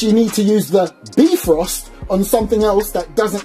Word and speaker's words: Bifrost: Oh, and by the way, I got in contact with Aztec and that is pronounced Brost, not Bif Frost, Brost.